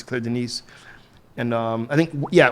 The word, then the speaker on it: Denis: It's spelled it looks like Dennis, but it's D E N I S, but it's Claire. It's pronounced Denise. Cla Denise.